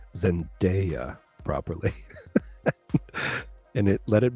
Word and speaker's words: Zendaya: of we're we're upsetting sil we did not pronounce zendaya properly and it let it be noted uh